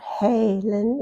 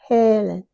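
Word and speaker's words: Helen: And the short e is e. Most people say it correctly in the word yes. Don't make it sound like a long a. It's not Halen. It's Halen.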